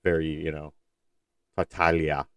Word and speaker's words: Tartaglia: like this on uh tartaglia tartaglia uh I always forget how to pronounce that it's very you know fatalia I believe is the correct pronunciation that g isn't like a hard G sound like I believe is